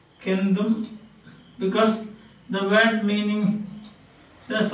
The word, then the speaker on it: centum: Although it is written C, it is pronounced K, and therefore you call it Kendum, and this is Sadam.